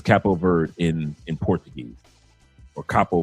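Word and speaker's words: Cabo Verde: language is actually uh cappo or a cappo capo bird. That's what it is. Capo ver. The d e is is silent. So, it's cappo bird in in Portuguese or capo bird.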